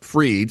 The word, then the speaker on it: Fried: The Braves are throwing now Yankee Max Fried, spelled like fried, and the Yankees are playing first baseman Ben Rice.